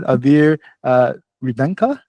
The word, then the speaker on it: Aveer Revankar: So yeah, this is Aveer Revankar. Am I right? I just want to make sure I pronounce the name right.